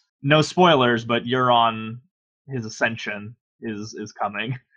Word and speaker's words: Euron: according to Game of Thrones wiki it is pronounced euron so it is yeah cool I'm glad I